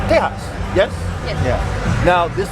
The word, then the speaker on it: Tejas: It's officially pronounced Tejas.